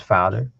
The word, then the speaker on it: vader: a child um and Vader in Dutch would be pronounced as Father which literally just means father so I was just